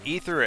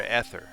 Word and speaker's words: ether: these so which is ether or ether as a kid i always said ether but then as a grown up i say ether because like the drug ether and i actually it's